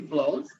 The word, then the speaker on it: Bloethe: i'm really happy to have with us blows and i know that's how she pronounces her name because i just asked her